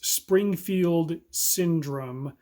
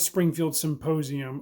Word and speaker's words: Springfield Syndrome: It's Springfield Syndrome, not Springfield Symposium.